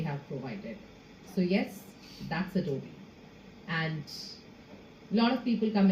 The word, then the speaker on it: Adobe: in addressing the company we like to call ourselves with an E towards the end it's Adobe that's the way we pronounce our organization now if I take